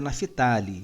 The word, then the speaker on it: Naftali: israel e somente corrigindo a pronúncia correta é naftaly de trás zebulom e